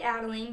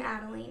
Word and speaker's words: Adeline: And I love the name Adeline. It's also in like my top 5 girls' names. And I used to pronounce it Adeline until I heard this song, and then I realized it was Adeline.